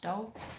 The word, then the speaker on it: Dhole: I say drawing the doll so it's spelled d h o l e but pronounced doll which is a type